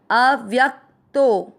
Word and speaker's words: अव्यक्तो: पहला चरण अ आदि व के साथ य पूरा, व्य के साथ आधा क व्यक, अव्यक्तो तो के बाद में अवग्रह मात्रा को लंबा खींचते हुए य पूरा बोलेंगे। अव्यक्तो य, म में अ